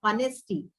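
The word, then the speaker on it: honesty: के शब्द होते हैं आर ऑनेस्टी तो यहां पे हम एच का प्रोनंसिएशन नहीं कर कर रहे हैं इसीलिए यहां पे एन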